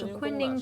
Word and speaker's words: Kunning: In Chinese, they pronounced Kunning Palace.